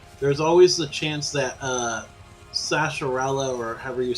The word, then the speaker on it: Sahasrahla: Yep, and then there's always the chance that Sasharella, or however you say his name, Sahasrahla, yeah.